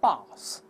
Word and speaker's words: bath: 英国人读成 bath，美国人读成 bath，b-a-t-h 就好了。